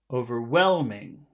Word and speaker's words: overwhelming: The mark is in front of the W. Overwhelming. You see the mark here at the top? Yes. That Yes. so that mark always happens in front of the syllable with all of the sound.